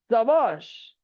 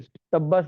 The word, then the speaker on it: शाबाश: Hush, चुप, Bravo, शाबाश, शाबाशी जताने, हाँ, शाबाश, या कोई सब्बास कहता है, तरह तरह के इसका उच्चारण है। ठीक है, सब्बास नहीं।